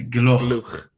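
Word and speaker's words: Gloukh: Harry, you got to learn how to say his name. It is Gloch.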